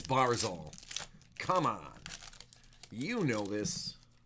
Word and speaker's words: Barzal: Barzal. Did I say Brazil earlier? I did say Brazil earlier. It's Barzal.